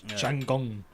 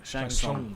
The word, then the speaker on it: Shang Tsung: Shanggong. Yeah. How do you pronounce it? Shang Tsung. Shang Tsung.